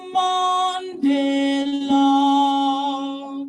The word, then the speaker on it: Mandela: Mandela. Mandela versus Mandela. Mandela. And if Jonathan wants to correct me, he can, but that's what I think the pronunciation that I hear is more like Mandela, de la.